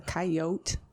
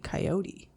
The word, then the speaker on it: coyote: I'm from Los Angeles, and we say coyote, but we would say coyote when we're trying to sound like cowboys. That explains it.